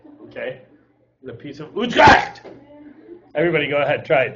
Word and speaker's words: Utrecht: The Peace of Utrecht. That's how you say it, okay? The Peace of Utrecht.